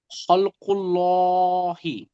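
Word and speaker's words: خلقُ اللهِ: জি, এটা উচ্চারণ হবে খলকুল্লাহি।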